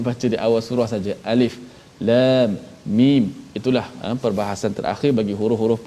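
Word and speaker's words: الم: Alif lam mim bukan alam, tapi waktu jumpa surah Al-Fil kena baca alam lah.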